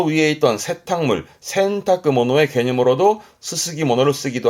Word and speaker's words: 洗濯: 발음은요. 그렇죠. 센타크.